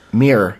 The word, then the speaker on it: Mir: last name is pronounced mir. It's ly mirror. Mir. He says mir rhymes with my favorite beverage beer or mirror like the Russian space lab, right?